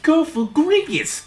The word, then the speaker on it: Cofagrigus: Cofagrigus will fit well on this team, and through Cofagrigus' might, I know in the comments go, it's pronounced Cofagrigus.